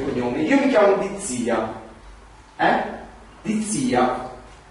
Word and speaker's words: D'Izzia: Dizia. Uno lo legge la prima volta, può sbagliare l'accento, dire Dizia. Però te lo dico, te lo spiego, dico Dizia.